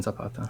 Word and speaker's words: Zapata: Is it am I saying it wrong if I say it like a white dude and go Zapata? No, I say it like a white dude depending what company I'm in. Gotcha. I'm a chameleon, and we'll try to blend culturally, so anything's fine.